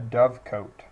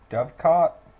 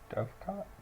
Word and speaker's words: dovecot: be a mailbox is actually a uh a dove coat or however the you pronounce it but it has pigeons pigeon coat